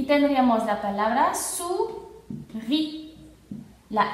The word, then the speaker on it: souris: S cuando está en fin de palabra no se va a pronunciar, entonces aquí tenemos OU, sería U y tendríamos la palabra souris.